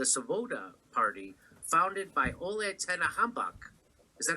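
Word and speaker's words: Tyahnybok: The C-14s was started as a youth wing of the Svoboda party, founded by Ole Tenahambak. Is that how do you say his name, Max? Tianbach.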